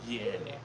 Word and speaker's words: Canik: In Turkey they pronounce it Canik.